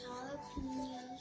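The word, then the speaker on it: jalapeño: And those jalapenos. There's lots of jalapenos. Ooh. You gotta say it like Mama Eni. How does Mama Eni say it?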